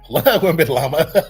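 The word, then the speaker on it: Wembanyama: So, I believe the correct way to say it is Wem- bin- Wembinyama. That's funny. Wembenyama.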